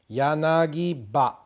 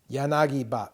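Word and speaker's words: yanagiba: Yanagi-ba. Yanagi-ba. You don't need that hyphen. You could have it in there or you don't need it in there, but it's called the yanagi-ba.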